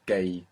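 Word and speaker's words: جاي: Good, with two Y's on the end, and we hear and pronounce them both. Gay.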